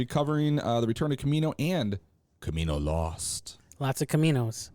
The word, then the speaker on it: Kaminoan: The Return of Kamino and Kamino Lost. Lots of Caminos. Mm-hmm. We won't, suffice to say, we won't have to have the conundrum of Camonians going on much longer.